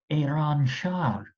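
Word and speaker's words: Ērānšahr: However, it's pronounced Iranshar.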